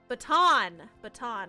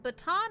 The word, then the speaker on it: Botan: Is it baton or botan? I'm so sorry. I just want to make sure I say it right. You have to dip because it is late? Aw. It should be botan.